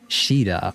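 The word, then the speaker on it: Caeda: You pronounce it like Shida.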